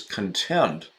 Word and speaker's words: content: of his Halloween bags now look at that pronunciation shift everybody Randy is content comfortable at ease he's content content but then just two lines lower contents yeah the accent shifts when we have contents Marla looked at ease